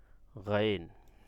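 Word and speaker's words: غين: গইনটা কীভাবে কীভাবে উচ্চারণ হবে, গইনটা ভিতর থেকে আসবে, গলার ভিতর থেকে। একটু ওয়েট, পানি খেয়ে নিই। তো গইনটা কোথা থেকে আসবে, এই গলার ভিতর থেকে আসবে। গইন, গইন, মানে আইনটা যেভাবে উচ্চারণ গলার একেবারে ভিতর থেকে আসবে, গইনটা কিন্তু ওইভাবে না, গইনটা সাধারণই হবে, নর্মালি হবে গইন, ঠিক আছে, এভাবে উচ্চারণ করবেন।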